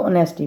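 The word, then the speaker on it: honesty: एंड ऑनेस्टी ईमानदारी अच्छा इसको नेस्टी नहीं प्रोनाउंस करेंगे इसको ऑनेस्टी बोलेंगे ठीक है ऑनेस्टी ऑनेस्टी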